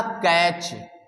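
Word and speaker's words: catch: नहीं पढ़ा हमने कहा कैच तो दोस्तों इस कैच में भी आपने देखा सीच के ठीक पहले टी को हमने नहीं पढ़ा तो ऐसे ही किसी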